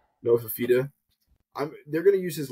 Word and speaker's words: Fifita: Noah Fifita.